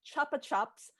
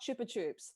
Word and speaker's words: Chupa Chups: In the modern lexicon, it's pronounced chuppa chups, not chupa chups.